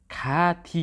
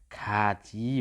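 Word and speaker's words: 같이: जस्तै अब यहाँनिर खाथी हुनुपर्ने हो नि त, खाथी हुनुपर्ने हो, तर यसलाई क्लियर उच्चारण गर्दा के हुन्छ त? यो नियम अनुसार के हुन्छ त? खाची हुन्छ।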